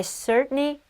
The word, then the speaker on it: certainly: 미국 언니들은 certainly에서 T 발음을 잘 안 해줍니다. 그래서 certainly 약간 이렇게 되는데요. 영어 고자 오빠들은 T 사운드의 담백함을 매우 좋아해. 그래서 certainly 라고 발음이 된 건데 I certainly hope so